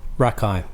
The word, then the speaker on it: Rakei: Yeah, so that's the self off your record, The Self, and it's featuring is it Jordan Rakei? Rakaii.